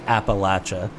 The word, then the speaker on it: Appalachia: And yes, it is Appalachia. I know Ryan Hyatt messaged me earlier today and said, "How do you pronounce that, Brad?"